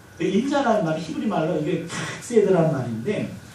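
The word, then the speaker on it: חסד: 인자라는 말이 히브리 말로 이게 카세드라는 말인데 이 카세드라는 말이 발음이 참 고약해요. 카세드. 웬만큼 신앙생활 오래 하신 분들은 다 들어보셨을 만한 단어인데 한 번만 따라 할 텐데요. 어떻게 하냐면은 이게 가래에 뱉기 직전이에요. 그래서 이렇게 되는데 강도 조절에 실패하시면 앞에 분한테 피해야 됩니다. 일단 너무 약하게 하면 발음이 안 들려요. 기도 많이 하시고 한 번만 따라해 주세요. 세이드. 네, 가래는 덜 뱉어요. 히브리어 단어가 이게 후두이 발달돼가지고 목젖을 막 긁어요.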